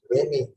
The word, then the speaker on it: WAME: The World Association of Medical Editors, and generally it is pronounced as WAME, W-H-A-M-M-Y, WAME.